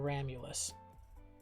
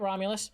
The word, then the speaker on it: Ramulus: Except for Ramulus. They were always very close. Oh, that's actually a good way to spell it. No, not Romulus. Ramulus. Yeah. Ramulus.